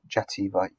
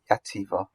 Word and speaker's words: Xàtiva: That would have a Spanish pronunciation, so not Jahar, Xàtiva, from which the family hailed.